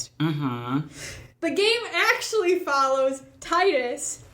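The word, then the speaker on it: Tidus: The game actually follows Titus. You can call him Tetus, too, cuz technically in in Japanese it's Tetus, not Titus.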